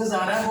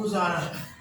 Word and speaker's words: گزارا: ہے وہ ہے گزارا۔ اکثر لوگ گزارا بولتے ہیں، گزارا نہیں ہوتا، گزارا۔ جی ناظرین، امید کرتے